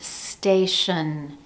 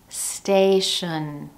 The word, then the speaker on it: station: For example, the word station, station. That first syllable has all the stress.